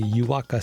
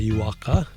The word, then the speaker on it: Juaaka: Juaaka is spelled Juaaka. So that's Juaaka, not Juaaka, which would be 2 Ks, but Juaaka.